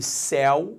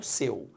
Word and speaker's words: céu: e é primeiro detalhe repare a diferença entre céu o céu azul e o pronome possessivo seu céu céu céu seu repare que em Céu well é aberto e quando eu falo seu ao contrário ou é fechado então eu desceu e